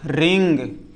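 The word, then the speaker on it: wring: रिंग।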